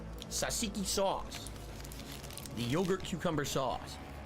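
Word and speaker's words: tzatziki: no surprise that you like this food it's pronounced sasiki sasiki sauce the yogurt cucumber sauce mmm oh that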